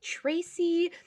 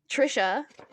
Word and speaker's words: Tricia: about the book The Shadows Between Us by Tracy. Can you help me with this name? Trisha.